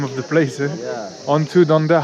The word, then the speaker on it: Antu Danda: I said that's the name of the place on, Antu Danda. How do you say it? Antu Danda.